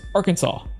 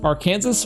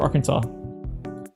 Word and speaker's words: Arkansas: But people that are that say the like Okay, so there's like I said, there's Kansas and there's Arkansas.